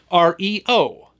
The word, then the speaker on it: REO: of his band although instead of pronouncing it like the car company did Rio Speedwagon they always pronounced the letters separately r-e-o Speedwagon and if your parents